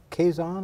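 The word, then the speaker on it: Quezon: Sam served in the Philippines from 1986 to 1988 in a very unusual area of the Philippines and Quaison. Am I pronouncing that right? Quison province. That's right.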